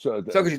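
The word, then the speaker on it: Sokoudjou: Sokoju. Sokoju, thank you, Sokoju.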